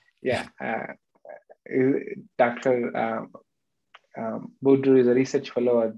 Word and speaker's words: Boudreau: Doctor, I don't think I'll pronounce his name right. Dr. Boudreau is a research. Yeah, is that correct? Yeah. Dr. Boudreau is a research fellow at the Montreal Heart